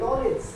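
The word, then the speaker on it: knowledge: नॉलेज, यहाँ पे भी क्या है? के बाद एन आया हुआ है, के क्या रहेगा? साइलेंट।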